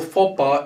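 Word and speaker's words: faux pas: now let's move to this so far or fopa is completely french that means when you use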